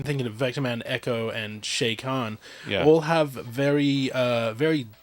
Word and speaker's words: Chakan: own thing and uh Shayan as uh it's apparently pronounced uh got his own